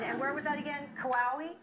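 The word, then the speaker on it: Kauai: where was that again qawalli that was kawaii rhymes with Hawaii probably near Hawaii it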